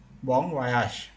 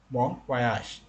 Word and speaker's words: bon voyage: Okay, but if you really pronounce that in French, it should be bon voyage. Bon voyage. In English, we say bon voyage.